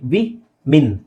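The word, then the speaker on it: women: ಆಗಿದ್ರೆ ಉಚ್ಚಾರಣೆ ಫಾಲೋ ಮಾಡಬೇಕು ವಿ ಮೆನ್ ಇಲ್ಲಿ ನಿಮಗೆ ಮೆನ್ ಅಂತ ಅನ್ಸುತ್ತೆ ಮೆನ್ ಅಂತ ಅನ್ಸುತ್ತೆ ಆಕ್ಚುಲಿ ಮಿನ್ ವಿಮೆನ್ ವಿಮೆನ್ ಓಕೆ ನೆಕ್ಸ್ಟ್ಬಿಓ ಡಬ್ಲ್ಎಲ್ ಬಿಓ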